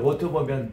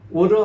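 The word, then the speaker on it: water: 있어요 요게 보면 워터보면 t 발음에서 AA 사이에 있는 것은 맨 처음에 요게 알로 발음이 D 발음을 표현합니다 D 바르는 것이 R 발음으로 변하거든요 우리 한번 따라 할까요 워더 워드 워러 하는게 역시 발음이에요 근데 이게 미국 사람 딱 가면 r로 바뀌어요 이게 이것도 바람에 따랐다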